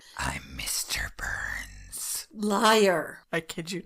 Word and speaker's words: Byrnes: The guard assumed that he was hearing the voice of Truman's Secretary of State, James Burns, spelled with a Y, Byrnes, but learned that Burns was out of the country at the time.